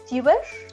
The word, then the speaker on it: Teuber: El diseñador es Klaus Teuber, ¿se pronunciará así? ¿Teuber? Creo que sí. Cosmos. Toiba, creo.